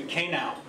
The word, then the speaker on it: K Now: The 2014 Audience Choice Best Feature goes to K Now. Which rhymes with Hey Now?